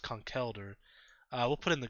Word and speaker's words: Conkeldurr: And then we like to name this Pokemon Conkeldurr. But I'm pretty sure it's pronounced Conkeldurr.